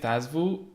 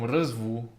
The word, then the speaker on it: Răzvu: saying it like, well, I was saying it Thazvu, but it comes from Răzvu, which is like a nickname from Răzvan.